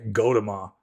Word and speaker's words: Gautama: Like Gautama is pronounced like in Sanskrit, like English in transliterated in English it'd be Gautama, whereas in Pali it's Gotama. But the Burmese pronounce the